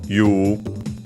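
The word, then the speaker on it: 言う: First and foremost, we have you, which is the verb which means unaccented, also pronounced as you, sometimes written as such also in writing, even though it's just to simulate the pronunciation.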